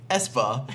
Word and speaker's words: Esper: Thistle's heard Esper say his own name, and he pronounces it Espa, so with a V on the front, is like the vehicle.